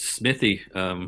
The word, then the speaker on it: Smithey: No, it's Smithey. Smithey is how I always tell people on the phone, just Smith with an EY on the end.